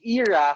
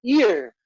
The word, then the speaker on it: Irra: play on my name kasi yung era for some people, dalawang syllable na nga lang eh. Tinatamad pa silang sabihin yung era. So ang tawag nila sa akin ay ear.